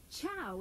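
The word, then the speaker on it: ciao: have gathered for centuries Chow is how you say hi in Italian go ahead give it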